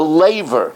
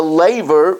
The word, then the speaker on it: Laver: to my heart and made the labor that's the correct pronunciation he made the Laver which later on was